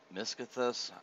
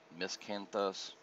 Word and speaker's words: Miscanthus: we got carrots onions miscothus i'm i may be pronouncing it right wrong miscanthus might be the correct pronunciation i looked that up